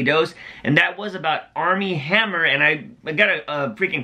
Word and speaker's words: Armie Hammer: freaking correct myself, because I kept saying Arnie Hammer in that video, but I found out the damn N is an M, and it's Armie Hammer, and I just corrected